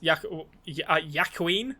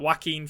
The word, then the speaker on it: Joaquin: uh what's his face yakween that's how i was about to pronounce that joaquin phoenix is a joker